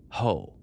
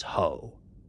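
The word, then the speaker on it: Juh: Ace was the son of one of the most famous of all the Apache chiefs during the Apache Wars, a leader named Hoe.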